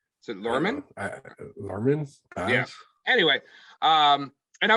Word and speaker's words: Luhrmann: do you say his last name is it lerman yeah anyway um and i was actually nervous